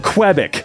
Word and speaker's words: Quebec: Can't have crap in Quebec. There we go. That's the right pronunciation.